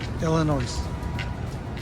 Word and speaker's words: Illinois: Illinois. There's no S.